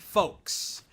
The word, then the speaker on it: folks: folks rhymes with smokes or cloaks or uh I I